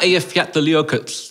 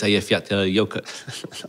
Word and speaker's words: Eyjafjallajökull: The one that people called unpronounceable, but it's Eyjafjallajökull. I appreciate you showing off, but I think you nearly got that right. Eyjafjallajökull. I think you ended that with... Flatley's yogurt. Yeah, yes. You ended that with flat yogurt, which is nearly there.